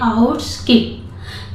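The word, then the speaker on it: outskirt: ठीक है, इसको पढ़ते हैं आउटस्किर्ट, यहाँ पे आर साइलेंट है, इसको पढ़ते हैं आउटस्किर्ट।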